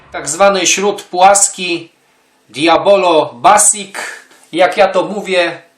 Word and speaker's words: Diabolo: mówię wśród Poproszę ślub Diablo już wiedzą na bazarku o co chodzi więc teraz takie potoczne Diablo nie pisze się Diabolo a on mówi się na bazarach Diablo dobra dobra pompujemy raz